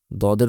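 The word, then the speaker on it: ض: দর মত খুব স্বাভাবিকভাবে দদ উচ্চারণ করতে হবে দর মতই কিন্তু একটু গলার গভীরে যেমন সিন এবং সদের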